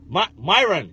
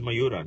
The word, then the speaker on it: Mayuran: oh yeah oh yeah or whatever Myron yeah and he's like his name is mayuran yeah yeah but she